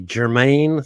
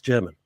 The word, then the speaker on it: Jermyn: for the first time, that it wasn't German, and kept pronouncing it, oh, you're going to the Germain Street Theatre? No, it's not Germain, it's German.